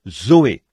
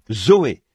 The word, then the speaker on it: Zoé: ou la vie éternelle on se sert du même mot que l'on prononce Zoé Z e Zoé la vie et tous